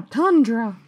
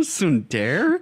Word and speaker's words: tsundere: I'm a tundra. Yeah, she was trying to. I'm a tundra. Do you mean a tsundere? That's right. I did not write down that she pronounced it way wrong.